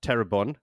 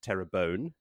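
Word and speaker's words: Tarabon: Further on her secret papers, Arad Daman and the Terabon, I don't believe it's pronounced Terabone, are still in shambles.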